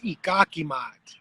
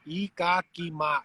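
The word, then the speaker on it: Iikakimaat: So it's Ee-gawk-ee-mot. Ee-gawk-ee-mot. 4 syllables.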